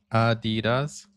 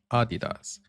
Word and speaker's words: Adidas: Adidas and Adidas are very similar. It's just the stress that changes. Adidas. Adidas.